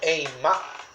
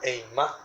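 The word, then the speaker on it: אימה: Esta palabra temor en hebreo es la palabra eimá. en algunos casos. Hay muchas palabras en hebreo para la palabra temor, pero yo voy a utilizar esta palabra eimá, termina con acento en la A sin H, eimá.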